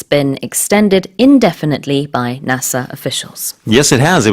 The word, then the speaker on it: NASA: Just one little question about the pronunciation of NASA. Is it NASA, NASA, or NASA?